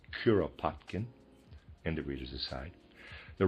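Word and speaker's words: Kuropatkin: The Russian general Curopotkin, excuse me, I pronounced it Kpotkin before. Readers aside, that's incorrect. It's Curopotkin.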